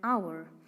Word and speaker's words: hour: hourglass not a hourglass because h is silent here in this world the pronunciation of the word is not however it is an hour hagine an honor not